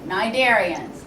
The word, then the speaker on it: cnidarians: going to be the Lila nidarians all right cnidarians the sea is silent well what's so unique about cnidarians you can you've experienced them if you have